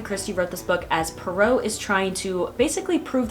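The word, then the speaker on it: Poirot: And again, we're following Detective Perau, I do believe is how you say his name.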